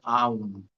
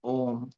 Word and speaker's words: Aum: So Om has three letters A, U, and M.